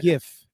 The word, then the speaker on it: GIF: wrong but it is it's the G it is a g with a hard G sound it's supposed to be a gif and so yeah so